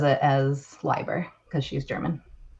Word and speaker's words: Leiber: So I originally thought Leiber, because that's the German pronunciation. My maiden name is German, and we pronounce the second vowel instead of the first. And so yeah, I was like, oh, it's definitely Leiber. And then I bought her